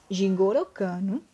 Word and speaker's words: Jigoro Kano: física jigoro kano é o que que se pronuncia assim jigoro kano ele estudou o jiu jitsu e verificou né